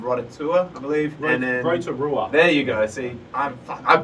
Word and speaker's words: Rotorua: We went to a place called, I'm going to butcher the pronunciation, a place called Rotorua, I believe. Rotorua.